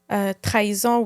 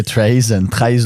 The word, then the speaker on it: trahison: And then we have the trahison, which is... trahison. No. That's how you say trahison.